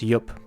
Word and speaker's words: IUP: Sorry, I've been told it's pronounced IUP, but I keep forgetting.